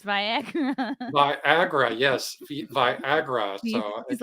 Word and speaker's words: Viagra: you could write off Viagra, is that via yes. That that's how you know he doesn't take it because he doesn't even know how to pronounce it. It's Viagra.